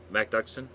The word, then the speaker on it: MacDuckston: Did I pronounce that correctly? MacDuckston?